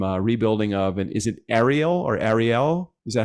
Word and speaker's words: Ariel: I see that you have either you've done some rebuilding of, and is it Ariel? Is that how you pronounce that? Aerial motorcycles, yes.